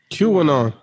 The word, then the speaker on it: QAnon: QAnon.